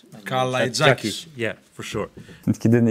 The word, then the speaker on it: Kalaitzakis: It was not only my name, also you couldn't pronounce Kalaitzakis' name. So. And number 11, difficult name, Panathinaikos. Panayotis Kalaitzakis. Kalaitzakis.